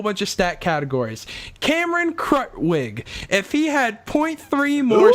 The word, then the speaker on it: Krutwig: Krutwig.